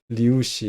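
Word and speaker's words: λύουσι: 그래서 류시가 여기 이 발음이 우 발음이죠. 우 발음이에요. 이거는 우 발음이에요. 그래서 우씨 이렇게 우씨 아니고요. 우씨입니다. 리우씨 이렇게 리우씨 이렇게 발음하고 앞에다 액센트 있어요.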